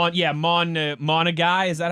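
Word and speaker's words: Monangai: Yeah, Monagai. Is that how he pronounces it? Kyle is his first name. Yes. Monangi.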